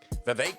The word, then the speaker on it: Vivek: And this first peddler is also a 2024 presidential candidate, Vivek Ramaswamy. Rhymes with cake.